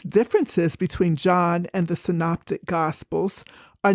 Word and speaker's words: synoptic: meaning to see together in a previous episode I mispronounced this word I pronounced it synaptic so don't be like me the proper pronunciation is synoptic and these gospels follow